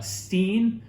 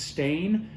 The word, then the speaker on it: Steen: blanc is grown it's also known as uh steen or i think it's pronounced stain uh s-t-e-e-n this is